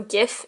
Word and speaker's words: GIF: not gif woohoo also I say Jeff with the J even though I think some people do say it with a hard a hard G a hard J sound so gift instead of Jeff but either or that's just my preference